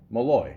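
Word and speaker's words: Molloy: is that m o l l o y Malloy yeah that's how you say it right okay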